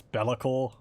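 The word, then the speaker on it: Be'lakor: time i know now the official pronunciation of malacca is bella core as according to gaines workshop but i'm gonna stick to how i pronounce it i'm probably just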